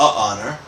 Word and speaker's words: honor: An honor yes we don't say 'a' honor. We say an honor because the H is silent.